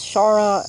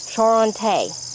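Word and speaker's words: Charentais: Charon, I always say it wrong. Charonte, I think is how you say it.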